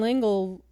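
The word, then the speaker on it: L'Engle: See, once again, Madeline Lingle, is that how you say her name?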